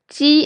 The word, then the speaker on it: ji: Ji is similar to j in jip, but the difference is when you pronounce j in jip, your lips are rounded. When you pronounce ji in Chinese, your lips are spread wide, like when you are smiling.